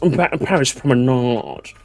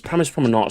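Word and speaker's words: Paris Promenade: Guys, guys, I'm English and it's actually it's Prominard. Oh, guys, guys. My name is Nigel Thornbury and I do believe it's pronounced Paris Prominard guys. Paris Prominard is my favorite track in the game.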